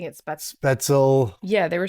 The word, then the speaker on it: Spätzle: She incorporated the sausage into her spätzle. Everyone kept pronouncing it spätzle. Spätzle.